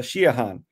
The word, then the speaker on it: Siodhachan: English speakers too uh they have difficulty with shahan and uh they they wouldn't know how to pronounce that uh it's because um the Irish